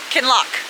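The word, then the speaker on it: Kinloch: So, I know that's lock can lock.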